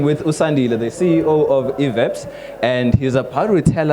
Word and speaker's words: Veppes: Yeah, it's Veppes. Not Veppes. Not Veppes, not all these other Veppes. names you've been hearing on the No. Yeah. We are still chilling with Sandile, the CEO of Veppes, and he's about to